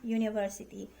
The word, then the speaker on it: university: Nah, ini adalah meskipun di sini vokal, tapi kita bacanya ya you ya.